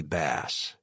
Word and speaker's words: Bass: To his right was another partner that I recognized from Hackett's firm's website, Gregory Bass, pronounced like the fish, not the guitar.